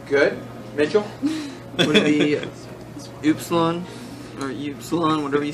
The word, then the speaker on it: Upsilon: Would it be Upsilon or Upsilon, whatever you said? Yep. Yep. Nice. How's it pronounced? Like a oo.